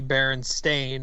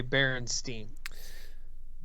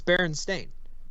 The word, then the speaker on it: Berenstain: Pronouncing those words out, Steen and Stain, when you see that written, it's pretty clearly Stain.